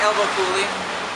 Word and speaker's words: Elbow Coulee: Yeah, we say Elbow Coulee, you know. Yeah. Awesome. Just like the Grand Coulee Dam with the elbow in front, no grand.